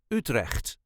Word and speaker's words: Utrecht: in the center of the country which is utre this is the way us duchies say UT